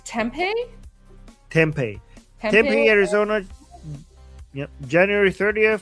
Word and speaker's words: Tempe: How do you pronounce the city name? I think it's Tempe. Tempe, Arizona.